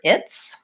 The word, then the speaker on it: its: long today so let's look at the word its this is something that has a couple of